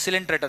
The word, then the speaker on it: Coelenterata: It's pronounced as Coelenterata, remember now only.